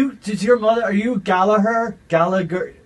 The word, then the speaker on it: Gallagher: Uh does it bother you when people do you does your mother are you Galaher? Gala like Well, it it's Galaher. Yeah. But as we were Manunians, Manunians always pronounce it hard G.